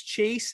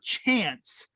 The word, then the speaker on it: Chace: Well, my last name is Chase, and it's spelled Chace. So I always get Chase or Chance.